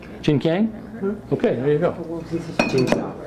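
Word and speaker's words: Chinkiang: This is Chinese black vinegar, pronounced Qingqiang. Okay, there you go. Say again? Qingqiang.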